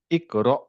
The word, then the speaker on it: اقرأ: আচ্ছা আপনি যে বললেন ইকরা, এখানে একটা হামজার উপরে সুকুন আছে না? হ্যাঁ, র এর উপরে ফাথা, তারপরে হচ্ছে হামজার উপরে সুকুন। ইকরা। তারপরে হামজার উপর সুকুনটা কিভাবে উচ্চারণ হবে? اقرأ উহু, ইকরা, ইকরা।